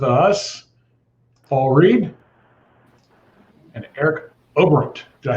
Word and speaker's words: Oberembt: we've got with us paul reed and eric obront did i say it right eric i get it i don't think anybody pronounces that name crazy how do you say it over amped overripped uh got it that time yep i